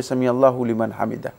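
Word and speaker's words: سمع الله لمن حمده: মধ্যে বৈধতা নেই মানে আরবি গ্রামার অনুযায়ী এটা ফায়েল ফায়েল পেশ হবে পেশ দিয়ে পড়তে হবে সামি আল্লাহু লিমান হামিদা সুতরাং এভাবে যদি কেউ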